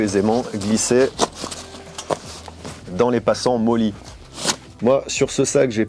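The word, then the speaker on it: MOLLE: quoi quelque chose enfin ça se prononce moli c'est des sangles qui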